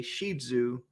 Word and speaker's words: Shih Tzu: You've seen some people call them Shih Tzus, but it's actually pronounced Shih Tzu.